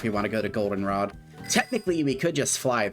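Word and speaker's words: Goldenrod: Golden Rod accent on the O.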